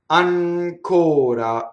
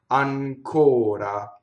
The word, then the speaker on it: ancora: Ancora. Now here we have a stressed O and it's closed. And there's a non-rolled R, right? Flipped R. Ancora.